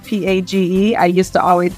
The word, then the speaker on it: Page: I used to, and because my name is spelled P-A-G-E, I used to always say it's page like a book until I started working in publishing, and then I kind of had to stop saying that.